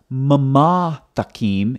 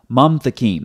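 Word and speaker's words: מַמְתַקִּים: It's a short A-class vowel that immediately precedes the schwa, which means the schwa is silent. So it's not mamathakim, it's mamthakim. That's why when you look at the transliteration over here, it's one syllable, mom, not mama.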